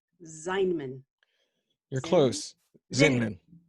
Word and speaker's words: Zinman: Zinman. It's Yeah. like Invader Zin.